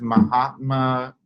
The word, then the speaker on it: Mahatma: like to see in the world that is Mahatma that's how you say his name Gandhi that